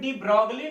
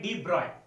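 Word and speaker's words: de Broglie: लिखे हैं डी ब्रॉय, इसका प्रोनाउंसिएशन डी ब्रॉगली नहीं है। एनसीईआरटी क्लास 12th की बुक में भी लिख रहा है, इसका प्रोनाउंसिएशन है डी ब्रॉय।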